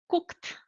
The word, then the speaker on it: cooked: I have to pronounce like T. The ED has the sound of T. So I'm gonna say cooked.